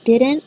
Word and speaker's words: didn't: number one if he didn't pay he wouldn't get elected okay so the first thing that you have to hear is didn't didn't you'll notice there's no t sound i don't say didn't